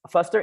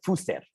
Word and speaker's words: Fuster: Y no es Fuster, es Fuster. Eso es como Fuster.